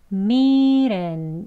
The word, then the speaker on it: meat in: 대신에 이래 이래 이렇게 부드럽게 바로 합니다 그래서 미렌 이어지는 거예요 미렌 이라고 발음 됩니다 같이 볼게요 미랜 미랜 미리 인하고